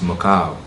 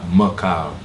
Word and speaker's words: Mehkail: It's actually pronounced Mehkail. Like Mehkail.